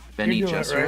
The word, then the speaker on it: Bene Gesserit: Bene Gesserit. Bene Gesserit. What's the proper pronunciation of that organization, Jason? Bene Gesserit?